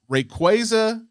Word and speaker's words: Rayquaza: Actually, I don't even know how to pronounce the name. Rayquaza.